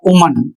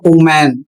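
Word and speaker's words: woman: और इसके बाद दूसरा शब्द है, इसका उच्चारण होगा उमन। बहुत से लोग इसका उच्चारण क्या करते हैं? बहुत से लोग इसका उच्चारण करते हैं ओमैन, जबकि यह गलत है और इस तरीके से उच्चारण नहीं करना है।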